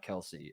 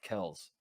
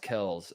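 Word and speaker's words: Kelce: the bomb that like his name is not kelsey it kells yeah it's pronounced kells and oh so there's like a transformation yeah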